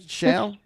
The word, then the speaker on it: Perry Shall: Is it Shall or Shall? What, am I saying it right? Shall? Yeah, you're actually saying it right. Most people don't, but it's shall, like the word.